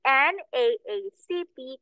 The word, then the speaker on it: NAACP: an NAACP convention. Okay, teacher again, why is it an? Why an? Why not a NAACP? Because N is pronounced N. N.